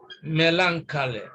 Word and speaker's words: melancholy: then this actually uh the distress is placed on the first syllable here melancholy melancholy so you can see